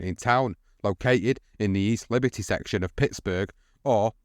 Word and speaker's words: East Liberty: town, located in the East Liberty section of Pittsburgh, or Sliberty, as it's pronounced in the slurred slang of the community.